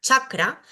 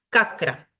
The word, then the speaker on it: chakra: por un lado tenemos esta letra que para nosotros es una c pero para el sánscrito es cha se pronuncia como nuestra ch Entonces si vemos escrita la palabra chakra vamos a ver que si yo no supiera sánscrito y estuviese leyendo esto diría kakra muchas veces para facilitar el entendimiento